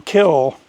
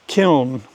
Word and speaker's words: kiln: In about the 1980s, the pronunciation shifted from kill to kiln. And now the correct pronunciation for kiln is kiln, and that's pronouncing the N at the end.